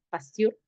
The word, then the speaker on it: Pasteur: Sí, Pasteur, así, Pasteur. Sí, Antar, confirma, P. Pasteur. Ah, ya, ya. Ya, es en francés, ¿no?